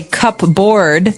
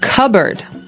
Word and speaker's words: cupboard: So, you might want to say cupboard because it's cup c u p b o a r d. That's not right. The word is pronounced cupboard.